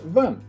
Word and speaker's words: 问: The character we're about to learn today is pronounced wen, which is the fourth tone.